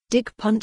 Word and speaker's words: dick punch: In the world of the Gimmicks, a Web3 animation project, dick punch stands for decentralized inclusive community, but it's pronounced dick punch, and they are a way for people to say hello to each other, like the Facebook poke.